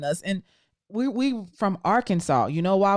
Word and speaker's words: Arkansas: and we we from arkansas you know why we call it arkansas instead of our kansas it was so many native american tribes like that that is a rule in arkansas to to show respect